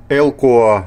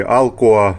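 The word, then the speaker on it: Alcoa: Штат Теннесси, городок Алкоа, Алкоа через Си, Элкоа или Алкоа, но это, грубо говоря, пригород Ноксвилла.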